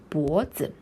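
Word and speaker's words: 脖子: it looks like and it's pain is like bo some people may get confused here because uh you're like taught that all chinese characters have four tones right but here like you see there is no tone here because it is a like neutral tone which and this usually happens at the end of a vocabulary just means this like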